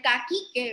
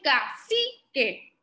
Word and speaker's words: cacique: Ustedes saben que yo dije que la letra C suena como, pero entonces cuando yo decía esta sílaba, no escuchaban que yo decía el caquique, ¿verdad que no? Yo dije cacique.